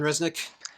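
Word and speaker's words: Rzeznik: smoother voice than John Resnik but yeah it is very goo doll's right that's how you pronounce it John Resnik yeah the the first Z is silent okay good because when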